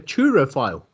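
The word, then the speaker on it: turophile: And if you love cheese, you are actually called a churrophile. Oh. Pardon me? T-U-R-O phile. P-H-I-L-E. Churro or truro? Churrophile. Spell it again.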